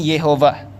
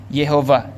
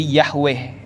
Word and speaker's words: Yehova: nanti di atasnya ini bacanya sebenarnya Yehova Yehova jadi inilah tetragramaton yang menurut orang Yahudi sebagai nama Tuhan yang paling suci yang paling sakral nah yehovah ini menurut sebagian orang Kristen mereka ada yang membacanya jadi yahwe makanya kita kenal ada